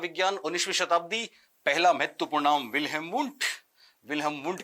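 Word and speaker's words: Wilhelm: जिनसे साइकोलॉजी पढ़ते हो वो इसको विल्हेम बोल पाते हैं कि नहीं बोल पाते। विलियम बोलते हैं तो पता लगा लेना कि साहब हटा लेना वहां से अपना खेल सारा कारोबार।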